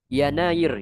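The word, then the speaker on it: يناير: Yanair. Yanair itu Januari ya. Januari kalau ditulis di Arab tulisannya Yanair. Yanair versi Indonesianya Januari. Kalau ditulis dalam bahasa Arab cara bacanya yanair.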